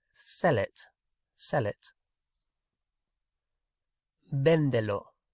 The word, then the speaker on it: véndelo: Véndelo. Véndelo.